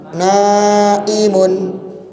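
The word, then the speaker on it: نائم: Jika Anda membacanya dengan 'ain', kedengarannya lembut, naim dengan ' ain', ya, lembut. Namun, na'im dengan hamzah berarti orang yang sedang tidur.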